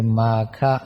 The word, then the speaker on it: มาฆะ: เรียก ว่า เดือน มาฆะ อ่าน กัน แบบ บาลี คือ มาฆะ มา สัสสะ หรือ มาฆมาส